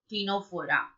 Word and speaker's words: Ctenophora: Ctenophora, as I discussed with you earlier, C silent. So you are starting from teen. So 10, Ctenophora.